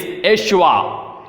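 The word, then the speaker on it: ישוע: In the Hebrew version or the Aramaic version, the pronunciation of the name is Yeshua.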